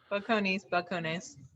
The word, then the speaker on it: Balcones: How do you pronounce it? Balcones? Yeah, Balcones.